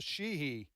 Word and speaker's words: Sheehy: That's going to flip because Joe Manchin's retiring, and then in Montana, Sheehy. Is that the way you pronounce it?